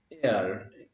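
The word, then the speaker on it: heir: The king left air, দেখো h e i r, air, এখানেও h silent, যেহেতু h silent air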